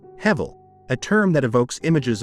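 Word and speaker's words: הֶבֶל: In Hebrew, Abel is pronounced Hevel, a term that evokes images of vapor or breath, ephemeral and fleeting elements in nature.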